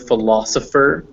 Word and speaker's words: philosopher: see word you'll see a ph which is pronounced f as in uh this word philosopher has two of those in it it has